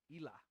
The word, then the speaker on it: Hila: welcome and lesbot says yeah the H is silent okay cool Ela Ela that's a pretty name